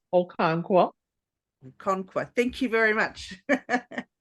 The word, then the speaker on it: Okonkwo: trying and you were very close it's OK conqua conqua thank you very much yes you're very